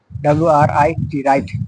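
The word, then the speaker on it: write: ওয়ার, WR, এখানে ডাব্লুটা silent থাকে, ডাব্লুটা silent থাকে, RIT রাইট, রাইট, রাইট, দেখো রাইট, ডাব্লুটা এখানে অনেক সাইলেন্ট আছে, রাইট, রাইট, রং, WR1 রং, WRI অ্যাস টুইস্ট।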